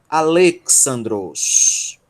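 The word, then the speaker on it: Ἀλέξανδρος: que vai dar Le, essa é a sílaba tônica, a Le. Aí nós temos Xi, alfa, Ni, Xan, delta, Rho, Ômicron, Sigma, Dros. Alexandros.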